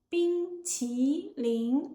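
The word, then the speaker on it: 冰淇淋: The correct tones for bing, ti, ling are bing, high-level tone, first tone. Ti, rising tone, second tone.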